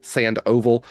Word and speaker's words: Sandoval: It's Michael, not the way you think, Sandoval, but it's pronounced Sandoval.